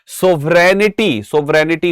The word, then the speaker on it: sovereignty: सोवरेनिटी होता है, सही स्पेलिंग होती है SOVEREIGNTY।